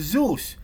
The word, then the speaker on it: ZUS: have something called ZUS, which is it's pronounced Zeus in Poland.